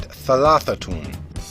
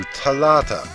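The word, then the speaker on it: ثلاثة: For instance, in classical Arabic, centuries ago, the word for three was said thalathatun. Nowadays, in most forms of modern spoken Arabic, the pronunciation has changed to thalatha, but the word is still written as thalathatun, reflecting the ancient pronunciation.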